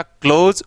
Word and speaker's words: close: या main क्लोज, तो ये तो होगा क्लोज और ये होगा क्लाउज। ये ओ ये औ, ये साउंड, ये अंतर है।